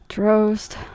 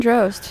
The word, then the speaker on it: Drozd: Drozd. Drozd.